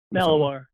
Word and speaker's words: Malinois: So, I believe that new animal they received, he's how do you pronounce Belgian Malinois? Malinois, yeah. Malinois.